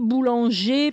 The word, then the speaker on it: boulanger: Manger, boulanger, papier. The R at the end is silent. The E-R is silent.